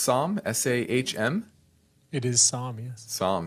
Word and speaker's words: Sahm: Sahm, is that, how would you pronounce that? Would you say it's Sahm? S-A-H-M?